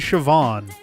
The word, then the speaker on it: Siobhan: that's interesting cuz like isn't BH the one that's pronounced like a V usually I had a friend Siobhan uh back in grade